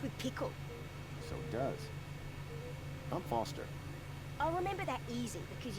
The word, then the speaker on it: Foster: pickle so does I'm Foster I'll remember that easy because your name rhymes with fossil and you're old thanks